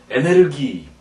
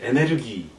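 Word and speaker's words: エネルギー: 그 다음에 에너지도 마찬가지죠. 에네르기. 여기서 에네르기.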